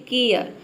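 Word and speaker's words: care: देखिए जब किसी वर्ड में ए के बाद अगर आर ई हो तो ए जो लेटर है इसको हम एयर प्रोनाउंस करते हैं। जैसे कि यहाँ पे देखिए केयर, और इसके बाद जो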